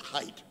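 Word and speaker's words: Haidt: started off his name is h-a-i-g-h-t but it's pronounced height of the eye he was at university of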